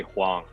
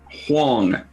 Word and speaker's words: Huang: get it wrong absolutely so I pronounce it huang huang right though so like like if I were phonetically saying it would be like hu ang wine huang that's exactly how it's spelled is to make it